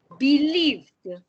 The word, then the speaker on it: believed: can you say this believed the pronunciation is like a d believed believed next one